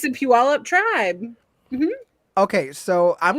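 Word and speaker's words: Puyallup: You said Puallup. Puualup. That's how you say it. There's no W in there. It's a Puallup tribe.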